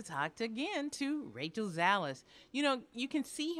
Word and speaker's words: Zalis: texas how are you i love dallas my name rhymes with it i know it's so